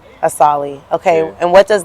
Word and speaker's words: Asaali: So how do you pronounce it? Asaali. Asaali. Okay, Yeah. and what does that mean? It's some designer shit for real. So, you know, like Gucci, Louis, Versace, Asaali.